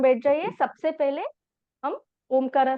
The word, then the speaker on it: ओम: ओम में तीन साउंड आती हैं। फर्स्ट साउंड अ कर र आपके पेट से निकलता है। ठीक है? मुंह पूरा खोल के ओपन करके अ करके तो आपके पेट से वो साउंड निकलती है। नेक्स्ट आता है उकारा। उकारा में लिप्स राउंड अप करना है। मतलब उ शेप में आप प्रोनाउंस करोगे और उसमें चेस्ट से ब्रीथिंग होगा।